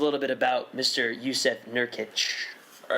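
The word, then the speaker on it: Nurkić: the NBA this year Yousef nurkish did I pronounce that right Yusuf nurkic nurkic excuse me Yousef nurkic you thought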